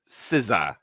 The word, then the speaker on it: SZA: It's not pronounced S-Z-O. It's pronounced SZA.